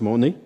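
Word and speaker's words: μονή: sommaire c'est en grec le mot monnaie m o n e en prononce monnaie et ce mot est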